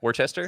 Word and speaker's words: Worcester: Yeah, It's Worcester.